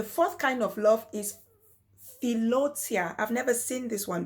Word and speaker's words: philautia: Then the fourth kind of love is philotia. I've never seen this one before. It's spelled Philautia. Philotia, and it's called self-love.